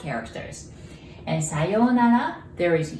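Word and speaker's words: さようなら: Sayonara has 5 characters. And sayonara, there is U between yo and na. And so there is OU there, so you pronounce it like O.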